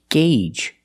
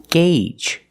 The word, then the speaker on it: gauge: is Jiffy Lube pronounced gauge that's right the Au makes a long a sound gauge the long a like in day and say and pay gauge the first G is a hard G sound followed by the